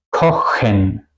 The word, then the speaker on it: kochen: Por ejemplo, en machen, kochen. ¿Ok? Aquí suena el sonido de CH como la J española.